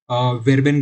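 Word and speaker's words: Verben: Greeting वर्ब्स को, sorry, वेरबेन ग्रूसेन। तो इधर हम वी को एफ की तरह प्रोनाउंस नहीं कर रहे, वी की तरह प्रोनाउंस कर रहे हैं।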